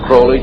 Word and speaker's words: Crowley: litter crawley he likes to have his name pronounced Crowley to rhyme with bullies and the statements today